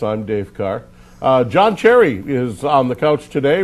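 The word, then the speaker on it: Cseri: saw your last name c s e r i pronounced Cherry yes and the game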